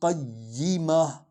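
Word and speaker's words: قَيِّمَة: یہاں رکنا ہے۔ جب رک جائیں گے تو یہ تا ہا میں بدل جائے گی، اور ہا کا مخرج سینے کی ہڈی ہے، ٹھیک ہے؟ قیمہ، فیہا کتب قیمہ، یہ ہے اس کا صحیح تلفظ۔ یہ آیت مکمل ہو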